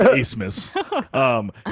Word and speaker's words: Abmas: Yeah, it's ABMAS and it's spelled pronounced Asmus.